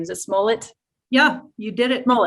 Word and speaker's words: Smollett: how to say his last name is a smullet yeah you did it roll it okay when